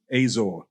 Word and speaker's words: Azor: The fearless leader of the idol makers, HURBY Lovebug, is it pronounced AZOR, brother? AZOR.